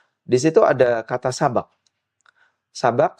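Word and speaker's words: سبق: Sabak sin ba qof. Jika kita baca bnya di fathah la sabaqo maka maknanya adalah taruan.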